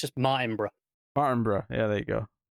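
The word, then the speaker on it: Martinbrough: It's because there's no extra O between the B and the R. Yeah. So it's just Martinborough.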